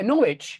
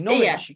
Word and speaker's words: Norwich: answer sword not there name remember how the the city I'm living is pronounced norit yeah norich exactly norwi there's no W done for now norwi you're Absol absolutely that's a very good example yeah Norwich is also a silent W for sure Norwich norch